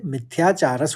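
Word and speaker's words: मिथ्याचारः: और आखिरी चरण में तीन शब्द हैं, मिथ्याचार, और विसर्ग पढ़ते हुए मिथ्याचारस हो जाएगा, और फिर स और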